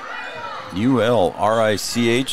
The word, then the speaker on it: Ulrich: U-L-R-I-C-H, and it's pronounced Ulrich, is what we were told, and that's how PA